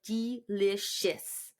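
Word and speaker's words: Deelishis: that really weird because the name is spelled really funny de e right yeah it's d e l i s h i s so it's like delicious she was the winner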